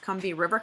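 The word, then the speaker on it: Combahee: so the conbini are I guess it's pronounced convey River collective existed from 1974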